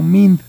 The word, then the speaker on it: MIND: pues decimos realmente el el pronunciarlo como mint o como Mind pues está bien dicho a las dos maneras porque al final del